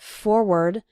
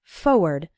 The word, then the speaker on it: forward: pronounce it more like forward. But when you're writing it, you need to include the R, F-O-R-W-A-R-D. Again, when speaking fast, we sometimes say it like forward, as if there wasn't that first R, but you need to